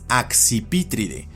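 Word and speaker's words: Accipitridae: Así, por ejemplo, en esta familia la pronunciación es axpítride, pero su castellanización escrita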